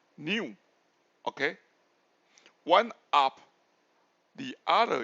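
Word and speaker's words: ν: the velocity V by actually is pronounced as mu and nu okay so it's different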